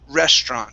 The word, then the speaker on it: restaurant: okay so uh here this word is restaurant okay restaurant try that the stress is at the very beginning restaurant last restaurant good